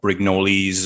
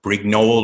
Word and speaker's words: Brignoli: myself familiar with doug brignoli's uh work uh although i i think the official pronunciation is doug brignol or brignol or something oh yeah